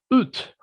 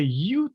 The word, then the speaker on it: ut: So say, for example, ut, ut, Ut, tongue out, ut. ut. Right, that's very good. Actually, it's very simple. Like some foreigners, they never get it. They say you or yo, and they try to make different sounds, or they push their jaw or their lips and try everything when it's actually just the same as ooh, and push your tongue out towards outside.